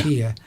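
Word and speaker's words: Türkiye: Turkiya rather than Turkey? Yeah, a lot of people are saying that because that's the actual pronunciation of the country by people who live in Turkiya.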